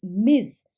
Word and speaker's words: Ms.: to a woman as Ms. Spelled with a capital M and small s and pronounced with a z sound.